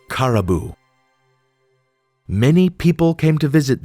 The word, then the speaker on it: Caraboo: With a little more coaxing and gesturing, she got the girl to share her name, which she pronounced as Caribou.